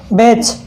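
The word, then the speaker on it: batch: किसी वर्ड में टी के बाद क्या हो, CHO या EN हो, CHO या EN हो टी के बाद में, तो वहाँ पर टी क्या हो जाता है? साइलेंट हो जाता है।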